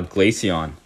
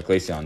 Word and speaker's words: Glaceon: uh I just pulled the all art uh glacion uh yeah Glaceon that's how you say it already Ethan yeah